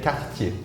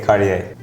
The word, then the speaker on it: Cartier: no no no no in French we say culture in USA we say Cartier okay wow oh I